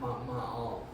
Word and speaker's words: Ma'al: Starts with an M. Rhymes with Baal. What? Ma'al.